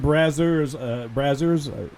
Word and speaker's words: Brazzers: And Brazzers, yeah, that's how you say it.